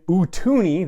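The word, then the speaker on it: Utooni: a lot of attitude and excitement and then utuni that's how it's pronounced spelled u-t-o-o-n-i which is basically two jaws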